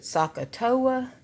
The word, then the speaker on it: SOHCAHTOA: acronym that I like to use it's I pronounce it sohcahtoa but as far as it tells you literally